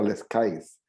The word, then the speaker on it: Les Cayes: sobre la ciudad de los cayos que se pronuncia les cayes entra en trance siente